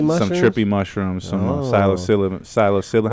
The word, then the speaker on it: psilocybin: Some trippy mushrooms, some psilocybin. How do you What's say the it? strain? How do you say it? Psilocybin?